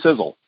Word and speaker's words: Sisel: We know the science behind them, and that's really the foundational pieces of the company because Sizzle is spelled S-I-S-E-L, and it's an acronym.